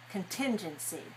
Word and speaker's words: contingency: All right, and contingency. Contingency. 4-2. 4-2. Good.